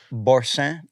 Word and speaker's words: boursin: Do you like boursin on your charcuterie board? Whoa. Next level. I don't. Yeah, I even pronounced it French.